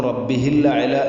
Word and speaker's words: الأعلى: വജ്ഹി റബ്ബിഹിൽ അഅല, റബ്ബിഹിൽ അഅല എന്നുള്ളിടത്ത് റബ്ബിഹിൽ അഅല, അധികം ആളുകളും റബ്ബിഹിൽ അഅല എന്നായിരിക്കും വായിക്കുന്നത്. അതും ശ്രദ്ധിക്കണം. റബ്ബിഹിൽ ആ ഹംസ ശരിക്കും കേൾക്കണം, ഉച്ചരിക്കണം.